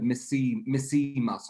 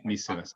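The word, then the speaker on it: 見せます: I heard misimas, not mise. No, it's misemas.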